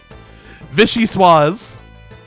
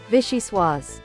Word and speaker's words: vichyssoise: How do you pronounce this? Vichy Swaz. Vichyssoise. There we go. I was close.